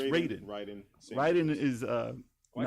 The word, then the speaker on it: Raiden: As Raiden or Raiden? Raiden. It's Raiden.